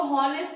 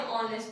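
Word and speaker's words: honest: इसको हॉनेस्ट नहीं पढ़ते हैं, ऑनेस्ट पढ़ते हैं, इसमें ओ की आवाज आ रही थी।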